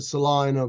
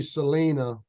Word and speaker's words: Salina: you have a great they pronounce it Salina but oh is that right yeah you you would think it would be Selena but um I'm not